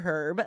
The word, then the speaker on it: herb: me um but again you could say herb or herb they're both fine to me herb is like a